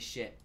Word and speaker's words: Schiit: So it's spelled SCHIIT. They make amazing products. I'll actually have more reviews of their stuff coming up soon. But yeah, it's definitely shit, you know?